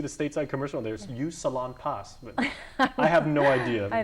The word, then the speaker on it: Salonpas: of our photographers now is it pronounced salompes or Salonpas that product everybody gets this one wrong I don't know I hear salamas yeah people here say salamas but you hear you